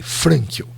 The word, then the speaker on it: Frankl: como se fala, e Frankl, eu acho que a pronúncia é F de faca, R de rato, A de Antônio, N de navio, K de que bom e L, Frankl.